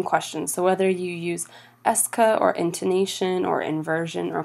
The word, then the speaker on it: est-ce que: using a phrase called Eska it's pronounced Eska even though it looks very different than that a second way is